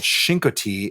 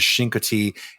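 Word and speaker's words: Chincoteague: Um the the gu is mostly silent. You can barely hear it when the locals pronounce it as Shinki.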